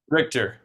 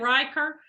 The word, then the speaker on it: Richter: of your last name Richter like the richness character yeah like directors yeah I almost said Riker and I'm like that's like the jail so so hey everybody